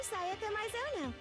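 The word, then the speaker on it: Sayaka Maizono: Yeah, I know the Japanese alphabet, so I know how each syllable is supposed to sound. That's the great thing about Japanese. They can only sound one way.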